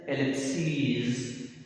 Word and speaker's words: ellipses: So in singular we have a short vowel is, और जब plural बनाते हैं तो लिखने में es होता है, लेकिन प्रोनाउंसिएशन में उसको लॉन्ग वावल लॉन्ग करके e प्रोनाउंस किया जाता है.